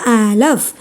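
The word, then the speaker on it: אלף: വീഡിയോയിൽ നമ്മൾ പഠിക്കാൻ പോകുന്നത് ആദ്യത്തെ അക്ഷരമായ ആലഫ് ഇതിൻറെ വില ഒന്ന് ഇതിൻറെ ശബ്ദം സൈലൻറ് ആണ് ആ എന്ന അക്ഷരമുണ്ട് രണ്ടാമത്തെ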